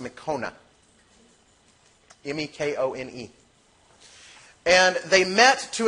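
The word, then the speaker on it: Mekone: It's pronounced Mekona.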